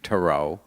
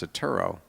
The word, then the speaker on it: Turow: herself as Eve tarot I corrected her at the dinner table I said honey you know we pronounce atturo and she looked at me and she said you mean that's how you pronounce it so I I stopped making